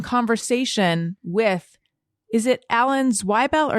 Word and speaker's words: Zweibel: You wanted me to mention that in addition to that, you can also watch you in conversation with, is it Alan Zweibel or Zwiebel? Zweibel.